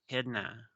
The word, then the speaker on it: echidna: pronunciation right here. Say it, bitch. Echidna.